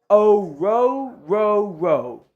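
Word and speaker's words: Orhorhoro: I'm telling you all, I could have it wrong, but the pronunciation guide I see for Rook is quite literally Rook O-Ro-Ro-Ro.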